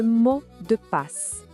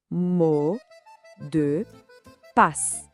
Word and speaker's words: mot de passe: Vamos praticar essa pronúncia com calma. Ouve primeiro. Le mot de passe. Agora, repete comigo, pausadamente. Le mot de passe.